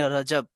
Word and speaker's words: رجب: 7واں قمری مہینہ ہے۔ اس کا تلفظ یوں صحیح ہے، را اور جیم دونوں مفتوح ہوں، یعنی رجب۔ یہ اس میں مشتق